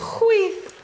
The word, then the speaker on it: chwith: Rhymes with teeth. Chwith.